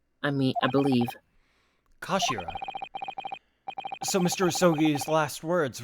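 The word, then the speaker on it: 頭: hilt just a gun it's written as head in Japanese but it's pronounced as Kashira I mean I believe Kashira so Mr isogi's last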